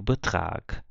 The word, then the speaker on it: Betrag: Então, G em final de palavra ou final de sílaba, a gente lê como se fosse um K, né? Então, eu leio aqui mag, aqui eu leio Sieg, aqui eu leio Betrag.